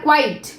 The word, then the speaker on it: quite: যেহেতু ই আগে আছে, এর উচ্চারণটা আমরা করব কোয়েট। আর যেহেতু এখানে টি আগে আছে, ই পরে আছে, সুতরাং এর উচ্চারণ করব আমরা কোয়াইট।